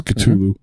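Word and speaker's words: Cthulhu: to be honest I I've heard other pronunciations but usually those other pronunciations involve other spellings uh for example the the Metallica song I think spells it with a K so it's culu culu so but it is an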